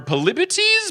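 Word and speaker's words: Polybotes: Just travel safely and watch out for polyboats or polybites? Polybites is how they say it later on.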